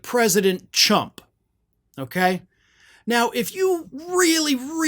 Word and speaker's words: Trump: to pronounce it correctly, don't make it sound like another word that's actually an insult. Chump. You know, maybe say like Trumpup or something like that if you can't pronounce Trump. But if you're going to make it sound like chump, then you probably need